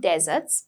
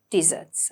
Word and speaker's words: desserts: It's not deserts, but desserts, okay?